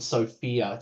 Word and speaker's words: SFIA: And we use a framework called SOFIA. It stands for it's SFIA. I always call it SFIA with a silent O.